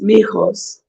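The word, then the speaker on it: mijos: you the meatos yes and in spanish it's mihos which means sons you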